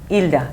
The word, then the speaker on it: Hilda: Normally my name in Spanish, the H is silent. So you just say Hilda. Hilda.